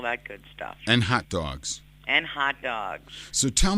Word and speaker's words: Dawgs: It's Derwitos and Dogs.